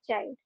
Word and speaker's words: chide: हमारा आज का वर्ड ऑफ द डे है CHRDE और इसे हम प्रोनाउंस करते हैं चाइल्ड।